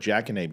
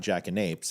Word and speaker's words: jackanapes: Jackanape, Jackanape with a silent S. So it's not jackanapes, it's jackanape, and the S is silent.